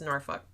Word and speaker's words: Norfolk: stationed in Norfolk, but that's not how they say it. It's Norfolk. Norfolk? Norfolk. Yeah, that's how the locals say it. I think it's just the southern draw. But for a while, I was like, what? I can't say Norfolk. But, yeah, they're not hard on that L.